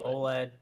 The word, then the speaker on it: OLED: what do you say oled or o led do you spell it out or do you say it like a word because i say it